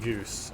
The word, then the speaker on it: Gus: I remember Gus is pronounced goose.